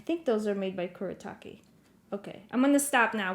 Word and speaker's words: Kuretake: Kuretake. Kuretake Gansei, and then there's also the last name Tomai.